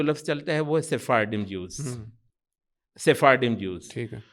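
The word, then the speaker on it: Sephardim: اچھا وہ کہتے ہیں وہ سیفارڈم نا, وہ شاید اسپینش کیا کا جو ہے نا وہ تلفظ تھوڑا بدل کے اس کو سیفارڈیم کر لیا ہے.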